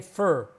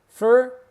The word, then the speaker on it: for: We would say fur. Fur is how we pronounce for.